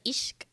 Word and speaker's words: ich: Although I think in like proper German pronunciation, it's not ich, it's like ishk. It's like this like sh sound that's not actually sh.